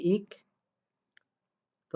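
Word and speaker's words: 익다: বাট আপনাদেরকে এটাও শিখিয়েছিলাম আমি যে আসলে এই দ্বিগুত আকারটা আসলে এই ইক দা বানান উচ্চারণটা সঠিক না। এটা সঠিক উচ্চারণ কি ইক, তো আকারে তা ইকতা।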